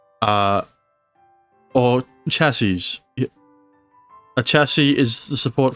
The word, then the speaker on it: chassis: chassis is also chassis however the plural is pronounced with with a zed at the end as chassis uh or chassis a chassis is the